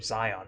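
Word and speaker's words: Xion: This one is with an X, but it's still pronounced the same, Zion.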